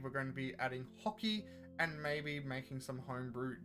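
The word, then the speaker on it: Haki: going to be adding hockey and maybe making some homebrew devil fruits. I can't believe they pronounce this hockey. Like a bloody Canadian. I thought it was hacky.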